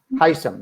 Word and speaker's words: Hisham: Hisham, that's how I pronounce the name? Yeah, Hisham, that's right.